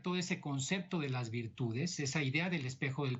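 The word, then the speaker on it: virtù: ese concepto de las virtudes, esa idea del espejo del príncipe, por la virtud, con un acento en la U y final, que es esa habilidad de llegar al poder.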